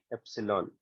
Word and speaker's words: epsilon: This is a Greek letter. It is pronounced as epsilon.